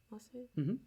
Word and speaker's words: Marseillaise: Marseillaise?